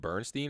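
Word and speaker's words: Berenstain: Wasn't it Bernstein or something? Berenstein. Bernstein. A lot of people will say Berenstein, Berenstein, but it's the Berenstein Bears, so it's STAN. It's like stain.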